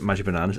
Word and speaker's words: xMagicBananas: So, speaking about, Magic Bananas, xMagicBananas, Yes. X is silent.